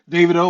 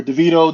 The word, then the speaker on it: Davido: slightly there's an artist named uh Davido or deito depending on how you want to pronounce it really big Nigerian artist